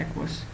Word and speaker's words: AUKUS: तो इसको एक्वस कहते हैं, आपको पता है AUKUS। तो एक्वस है ये, इसका स्पेलिंग ये वाले करेक्ट है, एक्वस।